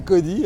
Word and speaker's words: Kody: Alors, pour ceux qui ne me connaissent pas, et Dieu sait s'ils sont minoritaires, mon nom c'est Cody, hein, ça s'écrit K-O-D-Y.